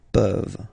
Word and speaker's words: peuvent: Je peux, tu peux, il peut, elle peut, nous pouvons, vous pouvez, ils peuvent, elles peuvent. Okay, as usual, this ending, this ENT ending, you write it, you don't pronounce it.